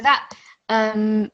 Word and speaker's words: ث: So for the letter Tha, if we go back to this is like when you say in English thin or thank you. So say these two words. Thin, thank you. Good. So that TH sound is a lot softer compared to the one that comes in Dhal.